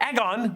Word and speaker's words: Aegon: Egg, as it was kind of short for eggon with the Valyrian pronunciation.